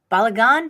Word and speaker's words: balagan: personal organization expert and I'm gonna say it wrong balagon did I say that right you said it right yes personal organization and